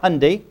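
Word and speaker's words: Hyundai: manager and owner of Alexandria hundy rhymes with Sundy I remember the uh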